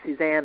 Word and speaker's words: Suzanne: experience once where a practitioner called me susan instead of suzanne and i i asked her several times i kept saying my name is suzanne and she just kept calling me susan and that was the